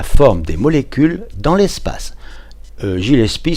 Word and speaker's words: Gillespie: Gillespie, c'est prononcé à la française. Normalement, on dit Gillespie.